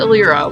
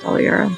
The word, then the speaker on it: Aliera: handle all your a-l-i-e-r-a bethesda did it they pronounce it elira which is the traditional swelling it's not it's pronounced dalaira just insider knowledge is there just so that